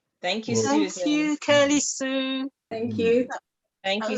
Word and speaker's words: Kirlew: in the chat, but it's Kirlew with the Kirly, in case people might spell it.